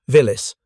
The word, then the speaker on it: Willys: Red Army commanders call them Willis, pronounce it villis.